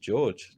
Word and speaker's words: Jorge: George, but it's spelled Jorge because he's got an Eastern European accent.